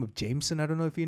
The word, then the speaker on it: JMSN: artists oh and uh his name is spelled jmsn jmsn JM Jameson yeah Jameson oh Jameson heard about